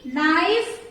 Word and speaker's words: knife: So first is knee, knife, not, no. What is common here? K. K is silent in all the words here.